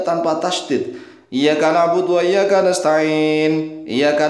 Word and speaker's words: إِيَّاكَ: Harusnya iyyaka na'budu wa iya gitu. Iya. Ya ditasydid. Iya. Tajibu qira'atuha bitasydidil ya'i. Wajib membacanya dengan tasydidnya ya. Li'anna takhfifaha fa ma'nahu dhau'u syamsi. Karena meringankan ya, maka maknanya menjadi dhau'u syamsi.